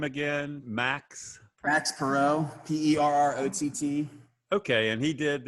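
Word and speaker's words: Perrott: awesome um say his name again max prax perot p-e-r-r-o-t-t okay and he did the sideways glance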